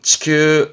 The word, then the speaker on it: 地球: 지구지역 말 그대로 땅이 동그란 그죠 지구를 바르면 치큐 치큐 아요 지구본을 말할 땐 이거 붙습니다 뒤에